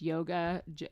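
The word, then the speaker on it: Jóga: I tried borks um I think it's pronounced yoga it's the j o GA a song um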